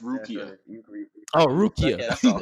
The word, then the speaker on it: Rukia: Sorry to interrupt, but her name's pronounced Rukia.